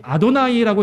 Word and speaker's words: 아도나이: 전통을 따라서 이해한 것이고, 그러니까 여호와, the Lord, 아도나이, 혹은 언어학자들은 그것을 야훼라고 읽습니다. 야훼. 그러니까 다 똑같은 요드해 바브에 우리가 여호와라고 읽는 단어를 어떻게 읽느냐, 읽는 법이 다른 거죠.